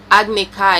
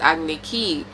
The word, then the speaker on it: Agni Kai: some of the characters for example ang is ang iro is eero saka is soccer and agni kai is ugly key at first i thought